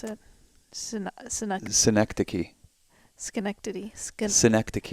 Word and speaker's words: Synecdoche: Synecdoche. Schenectady. Synecdoche. It's a play on the town Schenectady.